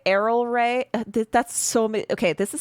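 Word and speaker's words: Erel Rae: Just just say just say Arrol Ray. Errol Ray.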